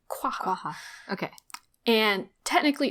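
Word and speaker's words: quagga: say this guy and the qua the Q is like barely there quaa okay and technically it's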